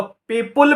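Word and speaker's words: people: Okay, कभी भूल से पीपल में एस नहीं लगाइएगा, मीनिंग बदल जाएगा। और इसको पीपुल भी नहीं बोलिएगा, इसका सही प्रोनाउंसिएशन है पीपल।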